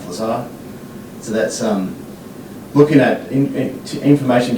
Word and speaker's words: Lazar: Jonathan Lazar, which is, if you're reading it phonetically, it's laser, but he like Lazar.